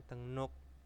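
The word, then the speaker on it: 등록: ada deng nuk nah e tulisannya dengruk bacanya tenguk Nah tenguk itu adalah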